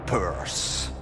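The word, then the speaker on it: Perth: en fait sont concentrés autour de Purse. Exactement with the good pronunciation.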